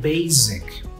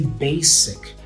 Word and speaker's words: basic: the meeting you said basic, but actually the S sound here sounds like an S, not like a Z. We don't say basic, we say basic."